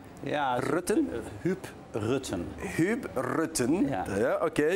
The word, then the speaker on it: Huub Rutten: Do I pronounce it correctly? Yeah, RUTTEN? Huub RUTTEN.